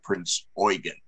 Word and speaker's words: Prinz Eugen: Oregon now uh for for all of us uh English speakers it looks like Eugene without the e at the end uh the pronunciation in German as I understand it is uh Prince Oregon and uh a couple